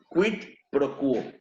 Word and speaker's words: quid pro quo: Quid pro quo. ¿Ok? Siempre que vean una Q o una G seguido de una U, la U se va a pronunciar.